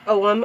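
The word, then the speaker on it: Ogham: is the om alphabet i know lots of people pronounce it differently i am going off what the pronunciation in the book is and it it says om although it's spelled ogh am but um i found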